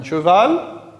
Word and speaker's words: cheval: Le mot cheval commence par la syllabe che. C-H-E. On forme le son ch à partir des lettres C-H.